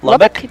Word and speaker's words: Lubbock: Lubbock, Texas.